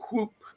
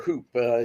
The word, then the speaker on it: Whoop: You have items like the Whoop, watch, and Hmm. or Hoop, depending how you want to pronounce it.